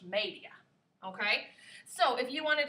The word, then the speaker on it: media: media looks like media in english but it's pronounced media okay so if you wanted to say 230